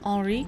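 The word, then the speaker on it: Henri: i would call him ori which is the french pronunciation of henry i had bill the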